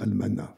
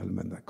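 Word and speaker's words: almanach: pas si on prononce je crois qu'il faut dire almana faut pas dire Almanac en français mais ENF peu importe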